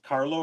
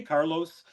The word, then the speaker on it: Carlo: You know why every when I say my name is Carlo, everyone's like, "Hey, Carlos." I'm like, "No, the S is silent."